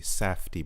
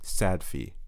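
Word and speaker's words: Safdie: time directed by the safti brothers i hope i'm pronouncing that right because in the past i've often pronounced it as sad fee and i'm sure they've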